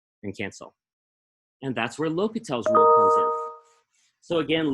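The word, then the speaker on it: L'Hôpital: L'Hopital's rule says, and again, L'Hopital is pronounced L'Hopital. I think the lo gets an accent, like stress. L'Hopital.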